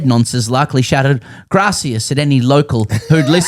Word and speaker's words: gracias: The reason for this repeated error is that in Castellian Spanish Castellian there would indeed be a th sound wherever a c or zed are used graith.